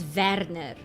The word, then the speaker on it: Verner: pronunciation be in German because Verner is Werner I know that okay